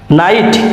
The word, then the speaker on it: knight: নাইট, KNIGHT, নাইট, that means Bir.